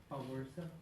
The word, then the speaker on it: Spowierza: Awersa. Could you spell it for me?